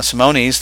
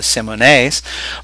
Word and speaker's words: Simone: The Simones, Simonis, that a lot of people call them. Their correct pronunciation is the Simones.